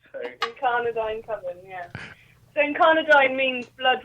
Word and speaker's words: Incardinine Coven: Firstly, congratulations for getting the name right. You're one of the first. You're the first one who can actually pronounce it. So. Incardinine Coven, yeah.